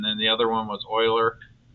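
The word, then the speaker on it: Euler: And then the other one was Oiler. It's spelled Uler, but it's pronounced Oiler again French. And I would say, uh, do we do we use Uler's method?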